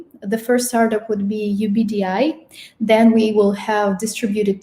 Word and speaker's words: UBD: I'm the co-founder and CEO of UBD, is actually how it's said, but it does stand for Universal Basic Data Income.